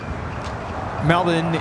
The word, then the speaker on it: Melbourne: South Side 7879 Dreamliner melin is the Australian way to pronounce it us Americans we say Melbourne oh makes me cringe